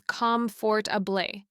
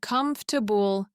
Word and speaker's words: comfortable: I once had a student from Germany who was pronouncing comfortable as comfort abé clearly articulating every vowel. But native speakers say comfortable. Three schwas in one word.